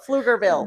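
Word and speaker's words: Pflugerville: like I'm trying to how do you say plurville flur flur flugerville that that's what I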